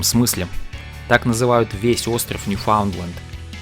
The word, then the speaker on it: Newfoundland: По-русски, конечно, правильно Ньюфаундленд. Но в настоящее время в Канаде название провинции произносится как Ньюфаундленд.